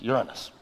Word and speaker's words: Uranus: german-born sir william herschel notice very carefully by the way how i pronounce the name of that planet uranus we've heard all of them they found rings around uranus jokes it really is pronounced Uranus now let's fast-forward let's